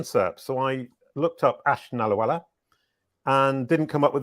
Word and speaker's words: Nallawalla: Today I'm here with Nallawalla. Is that the correct way to say your name? Yes. A quick hello, and we're good to go. Welcome to the show, Nallawalla.